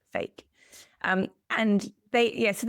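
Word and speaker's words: PHEIC: emergency of international concern, which is pronounced fake, p h e i c, fake.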